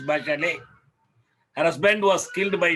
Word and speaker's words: Bachelet: human rights misses by she is not bachelet as wrongly pronounced she is back alley her husband was killed